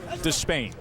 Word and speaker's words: Despaigne: By the way, we went a couple of years with everybody saying Yordenis Despain. That's how it was to be pronounced, and he said last night, you know what? Despain. So that's what we go with, Despain.